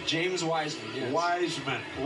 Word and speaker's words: Wiseman: So, what about Weissman? Yeah, there's a lot to like about James as Am well. I pronouncing his name correctly? James Wiseman, yes. Wiseman. Wiseman. Like the wise he's a wise man.